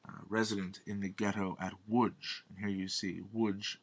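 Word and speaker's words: Łódź: in the ghetto at woodge here you see woodge l o d z the Polish l pronounced like a w woodge which is just outside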